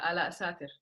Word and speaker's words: Alaa Satir: We have Miss Alaa Satir. Have I pronounced it properly? Yeah, Alaa Satir.